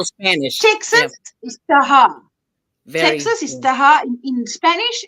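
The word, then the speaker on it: Tejas: The town is, okay, I would have said Mexia, but you say, pronounced Mejia. Oh, right. Even like Spanish. Texas is Taha.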